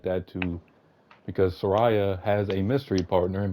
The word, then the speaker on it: Saraya: They brought back Paige, her former Paige, Saraya, whatever you want to pronounce it as. She's I back. think You it's got safe to say Saraya. Saraya.